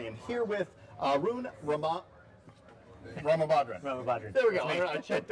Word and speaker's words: Ramabadran: Ramabadran. There we go. I checked on it. Yeah.